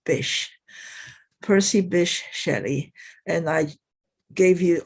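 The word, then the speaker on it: Bysshe: name is a not very common to be pronounced you know one breath and it's fish Percy Bish Shetty and I gave you all these links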